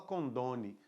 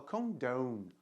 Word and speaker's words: condone: Com esse símbolozinho aqui que ele dá um som de O, igual em phone, né? Então, a gente não fala condone, né? A gente fala condone, condone, tá? Olha lá onde está a sílabazinha forte, né? No meio ali, condone, ok?